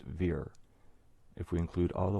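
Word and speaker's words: vier: verse four line forty in german the number four is pronounced veer if we include all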